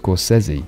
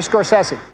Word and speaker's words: Scorsese: with him a quick note here Scorsese is pronounced Scorsese also says he hello Vance hey it's Marty Scorsese see us Brits tend to get from A